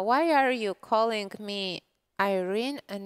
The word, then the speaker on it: Irene: sukanda who's playing right we've actually asked her how does she prefer her name to be pronounced and she said it to be irene yeah exactly no this